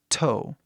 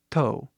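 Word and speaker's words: toe: né bem forte assim to aí compara com a pronúncia usando o t do português to entendeu mais leve mais suave até o português é mas o inglês é bem mais forte to próximo nós temos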